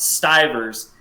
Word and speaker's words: Stivers: look at him and i go it's actually pronounced stivers it's a hard eye to hear like your